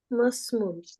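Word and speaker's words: مَا اسْمُ: তারপরে মা ইসমুল মুদিরি মুদিরি মার পরে কি ইসমুলের হামজার উচ্চারণ থাকবে? মাসমুল মাসমুল মুদিরি অর্থ প্রধান শিক্ষকের নাম কি?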